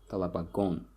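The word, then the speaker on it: талабагон: Talabagon will be pupils, and the stress here falls on the last syllable, talabagon, on the suffix, talabagon.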